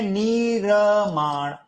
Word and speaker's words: निर्माण: जैसे निर्माण कैसे लिखते हैं? यह ऐसा लिखता है ना तो यह वास्तव में निरमाण ऐसे उच्चारण होता है निर्माण तो मैंने क्या कहा